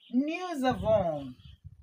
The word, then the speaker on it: nous avons: This S, I pronounce it as Z because we have a vowel here and we have a vowel here. So the S is in between the vowels and that changes the sound to Z.